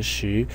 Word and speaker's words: 時: So that means that its pronunciation, si, points to the pronunciation of shi. Today, the pronunciation of si and the pronunciation of sh of this character, shi, is different.